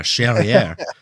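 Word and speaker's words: Charrière: Sherriier rhymes with derriè.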